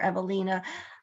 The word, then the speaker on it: Evelina: that's his wife and evelina's or Evelina I tend to give it the British pronunciation because that's just how I was taught but you can say Evelina too either one is fine and uh and then